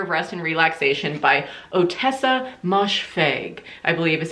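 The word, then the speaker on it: Ottessa Moshfegh: was my year of rest and relaxation by otessa moshfeg i believe is how you pronounce her name and this was a dark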